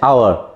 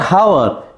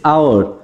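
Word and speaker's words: hour: been raining for dash আওয়ার নট হাওয়ার ইটস আওয়ার এখানে এইচটা কিন্তু সাইলেন্ট আছে তাহলে এক্ষেত্রে আমরা কী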